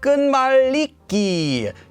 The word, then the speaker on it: 끝말잇기: i also explained that it's actually pronounced as ganiki due to what's known